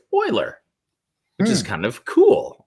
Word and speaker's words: Euler: which i pronounce for some weird reason is pronounced euler which is kind of cool i like that